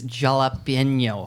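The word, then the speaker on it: jalapeño: You got to hit the enye. It's jalapeno.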